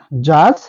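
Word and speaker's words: judge: ভুল উচ্চারণ করব যেটা সঠিক না এর সঠিক উচ্চারণ হচ্ছে ব্যাস জার্স এইচ এবং হেচকে আমরা যদি হেডস উচ্চারণ করি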